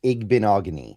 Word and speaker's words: Igbinoghene: But it's going to be, you know, It's like mahogany. It's Igbinoghene. I've I've kind of learned how to pronounce it now. Igbinoghene.